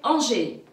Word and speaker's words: Angers: Donc, le son AN, il y a une ville à côté de Saumur, c'est Angers. Angers.